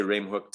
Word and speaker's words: Remhoogte: talking about here so obviously in dutch it's a lot more guttural the the g is like a so right from the back of the throat so it's red but if you say rem hooked uh everyone will know what you're talking about here in south africa so just say the g like a k i hope that that